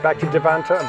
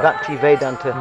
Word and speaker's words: Bhaktivedanta: Okay, and so obviously you've been to the manor there, the Bhakti, I can never pronounce it properly, Bhakti Devanta, Vedanta. Bhakti Vedanta.